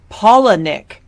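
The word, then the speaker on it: Palahniuk: super into genre fiction you basically have Chuck palanuk is that how you pronounce it I I need to Google how to pronounce his name it's pronounced poic is he polish I don't know okay that's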